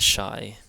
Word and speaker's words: Shai: Shai this is the Shai and it's pronounced sh as in shake and this is one